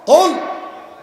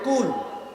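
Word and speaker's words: قُلْ: এখন আপনি যদি এটা পড়ার সময় মোটা করে কাফ উচ্চারণ করতে না পারেন, আপনি যদি চিকুন করে বলেন যে কুল, কি কুল, কুল মানে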